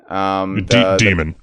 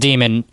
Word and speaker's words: Daemon: Demon. His name's pronounced Demon, but it's spelled with the A-E, that kind of, old way of spelling it.